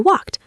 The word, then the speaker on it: walked: Or maybe you walked. Walk is a regular verb. I walked to the station. Remember that t sound at the end.